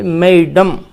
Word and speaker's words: Mesdames: Spelling तो है कि MESDAMES, लेकिन उच्चारण प्रोनाउंसिएशन इसका है मैडम।